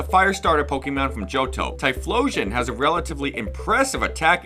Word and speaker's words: Typhlosion: hard to pronounce but I thought it was going to be like a typhoon when I saw tyoon losion blah blah but it's tyion like an explosion cuz that's what it